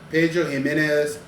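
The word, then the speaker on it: Pedro Ximénez: Pedro Jimenez Sherry Barrel. That is what this whiskey is finished in. It's finished. The X is pronounced as an H. Pedro Jimenez Sherry Barrel.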